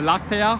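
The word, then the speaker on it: láctea: by the way there's an accent on the first day of lactea why because it has three syllables so but it breaks that rule before the stress should fall right the stress should fall on the penile but it doesn't it falls on what's called the anti-penalty and say in latin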